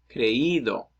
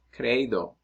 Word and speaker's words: creído: Same with creer, creído instead of creído, leído instead of leído, oído instead of oído.